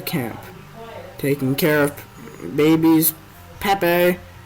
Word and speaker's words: Pepe: ways of the camp taking care of babies pepe pronounced pepe pepe and lupe learning simple jobs like sweeping and